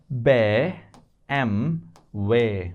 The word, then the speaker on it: BMW: call it BMW right BM way if you ask any German what is this this is BM way Bmway not BMW so